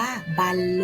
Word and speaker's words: บรรลุ: ผู้ เล่น และ บรรลุ อ่าน ว่า บรรลุ นะ คะ หมาย ถึง ถึง สำเร็จ